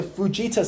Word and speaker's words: Fujita: We measure tornadoes on what is called the Fujita scale. Let me spell that for you. F-U-J-I-T-A. Fujita.